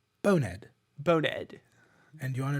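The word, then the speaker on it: Bone'ed: Okay, so bonehead but British. Bonehead.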